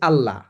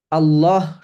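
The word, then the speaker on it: الله: যখন এখানে বলা হয়েছে আল্লাহ আল্লাহ তাবুদু ঠিক আছে এই যে আল্লাহ এটা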